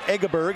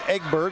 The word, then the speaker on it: Egberg: Demons of freshman 24-9 it's not eggerberg it's eggburg we check that out even